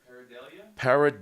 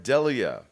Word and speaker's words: pareidolia: How do you pronounce it again? Pareidolia. Pareidolia.